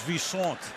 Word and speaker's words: Visanthe: And Shanko, who told us last night that he wants to be known as Vicente. I said, how do you want your name pronounced? You say Vicente on your introduction. Which way? I've heard 50. He said, I'm now Vicente.